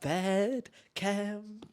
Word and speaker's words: Bed Chem: My what's popping of the week is Bedchem. Is that how you say it? What's it called? Pronouncing that like that was great. Bedchem. Bedchem? Bed chem, like chemistry. What the fuck?